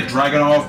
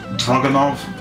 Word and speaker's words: Dragunov: Dragunov. A lot of people say Dragunov, but from what I heard, the actual pronunciation is Dragunov.